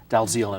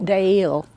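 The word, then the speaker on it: Dalziel: He's written a series of novels about two policemen named uh Dalzil and Pasco Deil. Deil, is that how you pronounce it?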